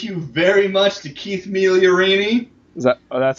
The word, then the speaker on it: Migliorini: Thank you very much to Keith Migliorini.